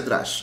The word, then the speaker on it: Drush: O Drush, bueno, se pronuncia Drush, ¿no? Pero viene de Drupal. Sería una especie de abreviatura de Drupal Shell.